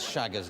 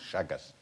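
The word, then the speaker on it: Chagas: How are you spelling this Shagger's disease? No, that's a good question. Yeah, how you spell it? It's actually spelled C-H-A-G-A-S, Shaggas.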